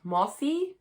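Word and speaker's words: Mosse: introduction by another author kate moss it's spelt mossy it is the best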